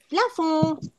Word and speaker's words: plafond: Y en francés, plafón. Recuerden que para llegar a la entonación y pronunciación nasal, es como decir on, un, in, on, un, ¿ok?